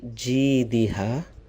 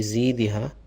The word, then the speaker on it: جيدها: في جيدها. Some of our elders have the problem with the jim. Sometimes they pronounce it as za. في زيدها. It's completely wrong.